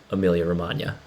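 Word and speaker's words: Emilia-Romagna: silence like lasagna because the g is silent in lasagna as well as amelia romagna and i learned this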